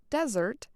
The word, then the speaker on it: Desert: of desert mountains today locals still say the word desert similar to its french pronunciation desert champlain and his